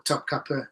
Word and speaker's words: Topkapı: can Topkapi Palace today, or Topkapı if you want to pronounce it properly. I got corrected for that once when I was in Turkey, so I should say it properly.